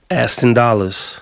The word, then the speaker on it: Aston Dollars: How you pronounce your name? Aston Dollars.